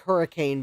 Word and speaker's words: Hurricane: Hurricane West vir Virginia no I did not mispronounce that yes I know it looks like hurricane but it's hurricane how West Virginia know if